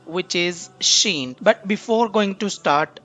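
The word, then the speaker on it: ش: of this letter so you can sound this letter as she with shashing sound okay so how you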